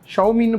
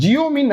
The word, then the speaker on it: Xiaomi: இன்னைக்கு பார்த்தீங்க அப்படின்னா எம்ஐயில் ஷவுமின்னு ப்ரொனவுன்ஸ் கரெக்டாக பண்ணுறோன்னா இல்லைன்னு நினைக்கிறேன். ஜியோமின்னு நிறைய பேர் வேறு சொல்லுவீங்க. ஸோ ரியலாக எனக்குமே குழப்பம் இருந்தது. நெட்டில் எடுத்து பார்க்கும்போது ஷவுமி அப்படின்றதான் கரெக்டான வேர்டு.